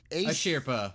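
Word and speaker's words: Asirpa: How do you pronounce this? Ashirpa. Ashirpa, thank you, from Golden Kamui.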